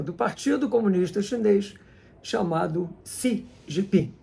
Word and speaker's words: Xi Jinping: Partido Comunista Chinês chamado Si Jipim. Embora se escreva Xi, se pronuncia si jipim.